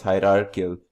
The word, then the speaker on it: hierarchical: Pardon my mispronunciation, it's hierarchical inheritance.